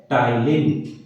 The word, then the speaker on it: ptyalin: है टाइन स्पेलिंग नहीं स्पेलिंग प से चालू होती है लेकिन इसे कहा जाता है टाइलिन या इसी का एक